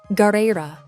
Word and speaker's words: Garera: So in Galley Law from Water 7, that extended makes it sound like Gali-ra. But in chapter 1154, it's spelled Garera, which uses the hiragana instead of a long dash to produce that sound.